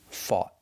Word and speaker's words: fought: Fight in the present, in the past, fought. We're using the same spelling, o u g h t, and we have the same pronunciation, aw, like ball and call. Fought. The T is a stop T.